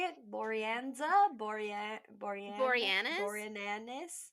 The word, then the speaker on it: Boreanaz: Boreanza? Boreanaz? Boreanaz? How to say there, Boreanaz.